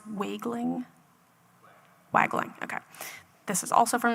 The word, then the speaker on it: Wagling: Chief, is it pronounced Wagling? Wagling, okay.